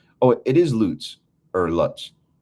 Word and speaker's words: Lutz: Oh, it is Lutz or Lutz. Lutz is the way it's pronounced. Okay, it's German, so either way is correct.